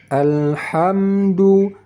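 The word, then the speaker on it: الحمد: lam mati cara membacanya yang benar alhamdu alhamdu jangan pakai qalqalah pada huruf lam mati alhamdu hamdu alham alham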